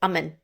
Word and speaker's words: Aman: But the main thing is Aman is pronounced Aman.